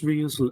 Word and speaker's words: Ryu: I pronounced Ryu's name wrong.